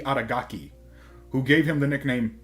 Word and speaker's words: Adagaki: When Masamune Makabe was a child, he was rejected by a rich, beautiful girl named Adagake. I pronounced that incorrectly. Aki Adagaki, who gave him the nickname Piggy for being overweight.